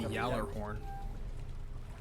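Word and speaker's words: Gjallarhorn: am the bearer of gallaghorn here although I believe the pronunciation is supposed to be yellow horn but you know who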